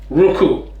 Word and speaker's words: Roucou: Ruku, and it isn't spelt how I thought it was going to be spelled either. Roucou is how you spell it.